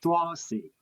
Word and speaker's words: drowsy: Drowsy. Oh drowsy. Drowsy. Drowsy. Drowsy. I pronounce Z. S. Just D Z. Yeah. The S. The S has a Z sound.